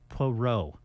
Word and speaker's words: Poirot: Poirot. Poirot? Poirot. He's the famous, like sleuth and detective. Agatha Christie, Murder on the Orient Express. Yeah. And, this is the new one, I believe, with Poirot, the detective.